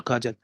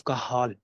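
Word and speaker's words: Cajal: So this is नॉट काजल, these are called as the cell of कहाल, ठीक है, from the एच। तो ये इसकी प्रोनाउंसिएशन है।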